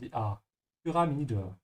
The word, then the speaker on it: Pyramide: Again, remember the Y is pronounced like you, dan umlaut like a soft, dann umlaut say pyra. Ja. And open your mouth and die pyramide.